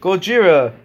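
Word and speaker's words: ゴジラ: Gojira. That's how you say it in Japan.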